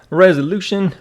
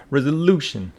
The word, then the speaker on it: resolution: want to see resolution resolution with the stress on the third syllable resolution resolution so the first meaning